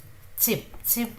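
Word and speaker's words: 집: So this alphabet is somewhere between J and J. So this is very softly, it comes out as Jib.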